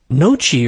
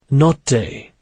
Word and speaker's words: Notte: Noci or something." "Notte," Etienne corrected, pronouncing the name Notte.